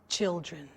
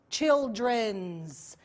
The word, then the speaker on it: children: Never, never say children's. Never, okay?